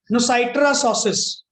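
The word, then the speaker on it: noscitur a sociis: इसको क्या प्रोनाउंस करोगे? नुसाइटर सोसिस।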